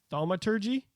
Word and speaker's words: thaumaturgy: So I could use thaumaturgy.